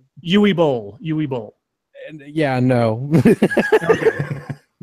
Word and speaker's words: Uwe: Uwe Boll. And yeah, no. How would you say? It's Uwe. Uwe. Oh, sorry. You're right. It is Uwe Boll.